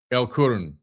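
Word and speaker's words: El Qurn: I think it's Karna. L Q U R N Kurin. El Kurun. That's what that's how you say it.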